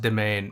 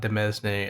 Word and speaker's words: demesne: I realized that it's pronounced domain and not demesne, as my other runs would suggest.